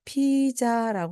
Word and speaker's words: pizza: 여러분께서라고 말씀하셔야 됩니다 이때 피자라고 하는 말을요 앞부분 을 강하게 그냥 피자 또는 피자 이렇게 말씀하시면 됩니다 핏에다가 강하게 발음을 해 주시고 뒤에 부분을 써 또는 싸 하고 넣어 주시면 됩니다 보세요 피자 또는 피자